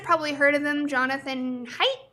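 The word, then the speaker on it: Haidt: heard of them jonathan height i think is how you say his last name he kind of makes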